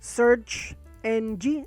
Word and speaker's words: SearXNG: It's pronounced SearXNG, and I believe NG means next generation.